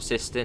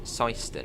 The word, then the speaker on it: Syston: And I've been corrected in how you pronounce Siston. It's not Siston, it's Syston, apparently.